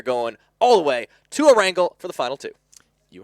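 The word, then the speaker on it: Erangel: Tom we are going all the way to a wrangle for the final two you actually said it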